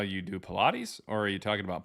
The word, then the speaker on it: Pilate: It's You can't pronounce Pilate? Oh, that's how you say it? Like from the Bible? Pilate. No, um Damn it, dude. It's Pilate, man.